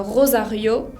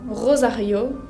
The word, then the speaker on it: Rosario: Así se pronuncian todas las vocales, Rosario, pero la acentuación, el acento tónico, va sobre la última vocal. No pronuncio Rosario, sino que pronuncio Rosario, con esa R de la garganta.